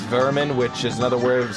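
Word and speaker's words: Werman: vermin obviously even though it's spelled wermen it's pronounced vermin which is another word of saying pest like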